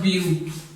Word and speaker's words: blue: have a words of blue. Where is the sound of E in this word? Just the concept of E is silent. We have just this concept. E is silent in the word of blue.